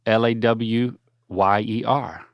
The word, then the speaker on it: lawyer: be that's very Southern how do you pronounce the first syllable of l a w y e r say that lawyer law rhs with flaw it doesn't rhyme with boy lawyer lawyer yeah law